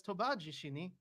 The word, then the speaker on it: Tobajishini: No, it's tonal, so it's Tobajishini, but you Ah, have to pronounce it like that.